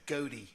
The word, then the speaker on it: Goethe: when did they have a street they're called Goethe Street like the geology and they pronounce it Gaudi I couldn't get the